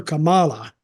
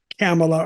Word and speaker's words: Kamala: Not Kamala, because it's not spelled like Kamala or Pamela.